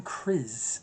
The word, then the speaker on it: Kryze: Clan Kryze, I believe it's how it's pronounced, K-R-Y-Z-E.